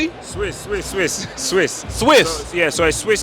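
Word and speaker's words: Suisse: Swiss. Swiss. Swiss. Swiss. Swiss. Yeah. So, it's Swiss capital and it's spelled the French way. Right. So, s u i ss e.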